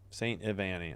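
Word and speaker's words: St. Ivany: St. Igvani. I'm just gonna say Ivani. Yeah, it's not a G. It's I. Okay. Ivani or Ivani. No, I guess it's Ivani. What am I saying? Ivani. St. Ivani.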